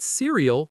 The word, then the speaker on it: cereal: I eat cereal with milk. Now, cereal. Cereal. Three syllables. Stress on the first. Many learners say cereal, but it's cereal.